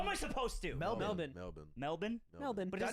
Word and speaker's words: Melbourne: So wait, you're from Melbourne? no, from Sydney. Oh, okay, Sydney. okay. Sydney. Yeah. Sydney. I've been to Melbourne, What do you and think of it it?